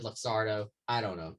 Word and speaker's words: Luxardo: No, I said You pronunciation. Said... Oh, you're right. Okay. You're right. It's 100% Luxardo.